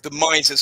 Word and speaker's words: Mises: So Nick is part of the Mises Caucus, right? And Mises, brother. It's Mises. I'm just going to start calling it Mises.